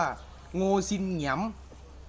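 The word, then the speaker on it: Ngô Đình Diệm: การ ลอบ สังหาร ประธานาธิบดี โง ดิน เดียม รือ ใน ภาษา เวียดนาม ชื่อ ประธานาธิบดี คน นี้ จะ อ่าน ว่า โง ซิน เหงียม เหตุ การณ์ สำคัญ ใน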